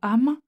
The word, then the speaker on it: âmes: et allonge au contraire la diction du mot âmes dont il faut prononcer le e ordinairement muet puisqu'il est ici placé